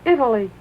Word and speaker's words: Italy: Italy Italy since then Italy no no three syllables Italy well did you like